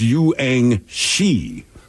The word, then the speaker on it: Yuang Shi: UA Frank Guan. She's not insulting him. It turns out it was not an insult. It's a slightly mispronounced name of the next graduate, whose name is Yuang Shi.